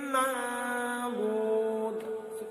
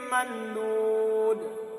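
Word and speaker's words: منضود: Jangan membaca izhar. Ya. Kebanyakan ikhfa ini dibaca izhar saja. Banyak dibaca seperti ini. Sijilin mandud. Padahal ini cara membacanya adalah sijilin mandud.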